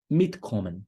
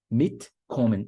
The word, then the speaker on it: mitkommen: Ou então, mitkommen, né? Vir junto. Mitkommen. A sílaba tônica fica em cima de mit, porque mit é um prefixo separável.